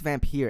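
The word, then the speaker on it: Vampyr: is vampire or fact I think it's vamp here actually I'm pretty sure it's how it's pronounced vampire it's $49.99 on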